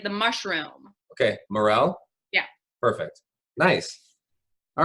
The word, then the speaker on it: Marell: And is it Marell? Yes, like the mushroom. Okay, Marell?